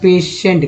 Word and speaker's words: patient: गया से, यहाँ NT, पेशेंट में टी का उच्चारण ट होता है, एन का उच्चारण ना होता है, PA से जो होता है पे होता है, और TI से उच्चारण यहाँ पर स होता है, और ई का एक गया तो ये से हो गया। तो सोचिए TI से हो रहा है ना यहाँ पर, तो श हो गया यहाँ पर, यहाँ भी श हो गया पेशेंट।